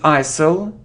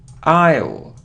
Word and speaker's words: isle: say it's so often often look it isn't ISIL now Isle Isle it is that it isn't foreign foreign